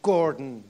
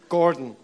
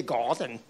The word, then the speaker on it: Gordon: my of my name Gordon and in the Swiss pronounced it in a very silly garden God forgive the Swiss